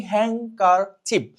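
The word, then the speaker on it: handkerchief: তাহলে এইটা হচ্ছে হ্যাংকারচিপ। তাহলে এই জায়গাতে যে লেটারটা উচ্চারণ হচ্ছে না সেটা হলো এখানে ডি, বাকিগুলা কিন্তু সব ঠিকঠাক মতন উচ্চারণ হচ্ছে।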